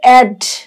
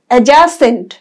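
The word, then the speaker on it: adjacent: একটা শেখার বিষয় আছে অনেকেই চোখ বুঝে উচ্চারণ করবে অ্যাড কিন্তু এটা অ্যাড হবে না বর্গজ অজফালা আকার বর্গজ এডজাসেন্ট এডজাসেন্ট মানে হচ্ছে সংলগ্ন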